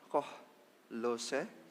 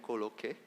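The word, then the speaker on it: Kolhoze: Pintu gerbang mata air diperbaiki oleh Salum bin Kohlose. Saya hampir bacanya Koloke.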